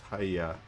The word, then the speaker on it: hyy: It is Hia or Hy game friend told me his name is pronounced hya.